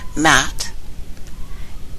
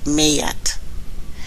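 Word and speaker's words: Maat: Mat is actually pronounced Mayat.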